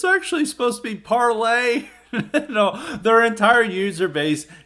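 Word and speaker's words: Parler: the funny thing about parlor is part of this proper pronunciation is parlay it's supposed to be it's supposed to be french word but of course it's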